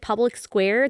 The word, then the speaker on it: Public SQ: small I do recommend Public Square the public SQ app it's spelled public SQ but you say Public Square and just put in